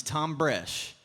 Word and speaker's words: Thom Bresh: And I'll never forget the first time I met him because he said, "Hi, my name's Thom Bresh." And the H is silent like the P in pool.